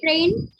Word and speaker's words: train: That is same train itself, and the pronunciation is tra.